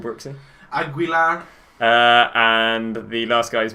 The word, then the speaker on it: Aguilar: Want to go get Bernat, Aguilera, the right back from Monaco. What's he actually called, Brooksy? Aguilar.